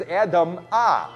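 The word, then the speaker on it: אדמה: Because the Hebrew word for dirt is Adamah, with an ah sound at the end of it.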